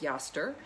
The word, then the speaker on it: Eostre: today i'm focusing on yaster is and and i know if you're looking at the name in the description you think that looks a lot like easter it's actually pronounced pronounced yester um she was an